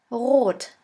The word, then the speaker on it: rot: In order to pronounce this letter right, you have to gargle in the back of your throat until it starts to vibrate. R. R. Now try. That is how we officially pronounce the German R, but in some region in Germany we also use the Spanish R.